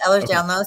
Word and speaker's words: Ehlers-Danlos: It's a Did I pronounce Did I pronounce that correctly? Yes. Eller's Danlo.